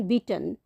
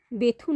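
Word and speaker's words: Bethune: ইহার নামের প্রকৃত উচ্চারণ বিটন, কিন্তু এদেশে বেথুন হইয়া পড়িয়াছে, সেই নামেই সকলে ইহাকে জানে।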